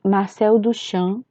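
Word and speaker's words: Marcel Duchamp: certo é ela é de Marcelo do chão se pronuncia mais ou menos assim e ela é O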